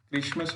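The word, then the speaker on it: Christmas: तो टी इज not pronounced in these common words, माने कुछ कॉमन वर्ड्स हैं जिसमें टी का उच्चारण नहीं करते हैं। जैसे क्रिसमस हो गया, फॉशन हो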